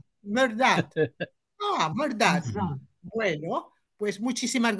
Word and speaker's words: Mehrdad: Es muy fácil mi nombre pronuncianlo como si fuera verdad, pero quítle el B y póngan un M. Merdad. Merdad.